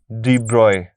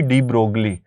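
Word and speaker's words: de Broglie: Students, ठीक है, और सेकेंडली हम क्या बोल सकते हैं, डी ब्रॉय। कई लोग इसे पढ़ते हैं जी डी ब्रोगली, तो इट्स अप टू you, pronunciation से इतना कोई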